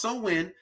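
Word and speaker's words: Samhain: when is a gallium a galaic word pronounced so in right celebrated from October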